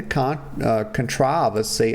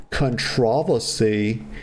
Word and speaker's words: controversy: I like to say it like the British people say it because I just prefer it that way. The European folks, they say controversy. And, us Americans over here, we say controversy, but I like controversy better.